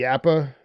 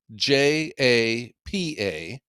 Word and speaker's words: Japa: It is spelled Japa, and in Finland the J is pronounced like a Y.